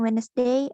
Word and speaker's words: Wednesday: consonants that are silent like the d in wednesday or the g in foreign how to fix it fixing